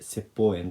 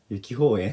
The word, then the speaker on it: 雪峰苑: 雪に、峰に円って書いて説法円って読みます。僕初めは雪法円って最初読んでました。